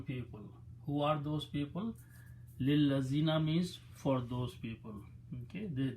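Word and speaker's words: لِلَّذِينَ: So when you read them together, okay, you don't pronounce this alif, it's lillazina, don't even write the alif.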